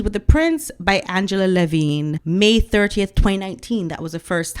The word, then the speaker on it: Levin: the prince by Angela Levine May 30th 2019 that was the first time a book came out so the table of contents for Angela Levin's book sorry for the mispronunciation it's Levin not Levine chapter one welcoming Megan